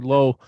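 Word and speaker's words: Lauw: uh Allison and Lorraine nicolu Nicolo I keep mispronouncing her name and Nicholas I thought it was Lao originally then I thought it was blue corrected me it's actually low oh man I keep messing that up I'm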